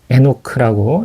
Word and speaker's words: 에녹: 에녹. 에녹크라고 읽어 줄 수 있는데 이거는 시작된 창시된 뜻이야.